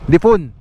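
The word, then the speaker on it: Diffun: Ano po ba to? Difon? Yun po tama, Difon o Difan? Difon po. Difon. Sige po.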